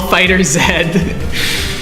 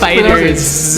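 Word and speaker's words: FighterZ: Dragon Ball Fighter Z. Don't say that. That's Dragon not how Ball you pronounce Fighters.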